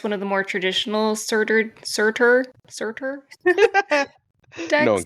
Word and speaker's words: Surtur: eh let's do it serter it's serter it's yeah it's serter uh I believe it might also be pronounced CER I'm G just call